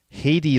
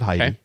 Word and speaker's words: Heidi: couple of pronunciation notes Haiti Lina Haiti not Heidi Haiti and it's alsu